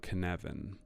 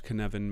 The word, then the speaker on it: Cynefin: to a sense-making framework called kanevin it's spelled funny because the word is welsh and in welsh canevan means the place of our multiple belongings and and it kind